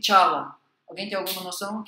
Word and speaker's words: Chala: É porque em sânscrito o som cha normalmente é escrito com a letra C. Tá? Então, se você fosse escrever isso, em, digamos assim, de uma maneira mais convencional, você escreveria Kala e você leria Chala. Detalhes que às vezes importam.